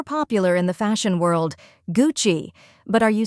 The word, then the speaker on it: Gucci: to say it is Gucci two syllables with a soft cha sound like in the word cheese here's a trick to